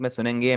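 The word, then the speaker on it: ます: जब भी आपका जैपनीज में कहीं पर मास लिखा हो ना यह वाला एम ए एस यू यह लिखा हो तो यह आपका हमेशा ऊ साइलेंट ही होगा। इसे आप हमेशा मास से ही पढ़ेंगे। मासू कभी भी नहीं आपने पढ़ना।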